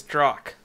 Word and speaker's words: Drock: okay his name is drock i already understand and i'm fed up with it all i just want so it's pronounced like lock my if it isn't